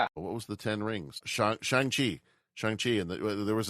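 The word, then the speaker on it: Shang-Chi: movie the the I'm going to get the name wrong. Uh yeah, Shangi and the Yes. Yeah. What was the 10 rings? Shang Chi.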